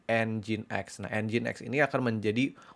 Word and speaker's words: nginx: Bacanya nginx.